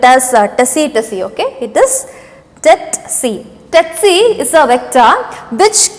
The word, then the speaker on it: tsetse: Don't spell it as Tsetse, okay? It is Tsetse.